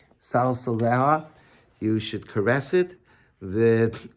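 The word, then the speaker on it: סַלְסְלֶהָ: Is the proper pronunciation Salsala? I wrote it down. No, Salsaleha.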